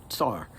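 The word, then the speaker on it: czar: other spellings like the c z a r which technically should still be pronounced SAR uh but that is uh a trivial thing okay so Ivan I fourth becomes the first SAR of Russia in 1547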